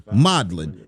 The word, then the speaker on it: Modlin: You heard it, modellin. m o d l i n.riichman. You know how to spell that.edu.